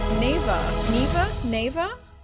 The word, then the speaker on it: Neva: That's Neva. It's pronounced never. Oh, like never.